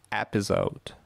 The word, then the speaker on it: episode: Episode. Это первый слог.